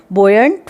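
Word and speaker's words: buoyant: ठीक है, you silent है यहाँ पे, बोयंट फोर्स।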